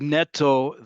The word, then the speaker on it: netto: Um with netto the emphasis is on the first syllable not second. Yes, because netto is not Hebrew, right? Net is um netto comes from net. Um and so therefore, like many borrowed words, the emphasis is on the first um syllable, not the second.